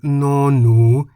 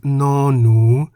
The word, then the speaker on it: น หนู: That is the consonant no-nu, which we can summarize as a consonant that sounds like an N at the beginning and end of a syllable.